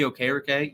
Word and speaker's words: Okereke: Imagine a linebacking core with Bobby Okereke. Yes, apparently that's how he pronounces his name.